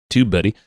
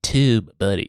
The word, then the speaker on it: TubeBuddy: andf flowchart docomo buddy tube buddy you have to say it like that tube buddy yeah and that's how